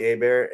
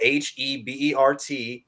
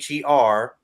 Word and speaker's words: Hebert: So, and you can find me on Facebook at Hebert, and it's spelled Hebert, not Her.